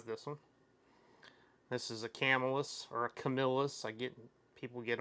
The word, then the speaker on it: Camillus: This is a Camillus or a Camillus. People get on me about saying it wrong, but I say Camillus a lot of times.